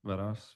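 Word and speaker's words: Varas: Venos.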